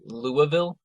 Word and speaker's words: Louisville: Now, first, I have to say, because I was corrected on this a few times, it's Louisville.